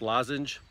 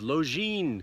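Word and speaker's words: Lošinj: you look at it it looks like it's pronounced lozenge it's not lozenge it's lo Jean this is my fourth time in Croatia but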